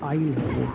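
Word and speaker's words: isle: आई आई आइजले आइलैंड clean आइजले आइलैंड Klein आईल क्या spelling है उसकी आई एस एल ई आई एस एल ई हां आईल है वो फ्लैन आईल आइलैंड हां नहीं तो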